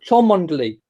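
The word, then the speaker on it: Cholmondeley: so no try again the Marquis of charm unduly spelt CH o L M o n de le white you try it now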